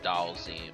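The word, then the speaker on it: Dhalsim: Fighter fan to nag me about pronouncing his name wrong, so... Like, I didn't know that Dalzim's name was Dalzim, but that's actually how you say it.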